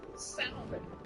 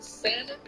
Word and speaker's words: salmon: Then there's salmon versus salmon. Now, this is for the black people. Black people, that L in salmon is silent.